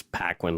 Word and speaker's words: Paquin: But it's Paquin, like, I guess, Anna Paquin.